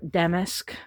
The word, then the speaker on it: damask: And the green with that damask pattern. Damask or damesk as a lot of people pronounce.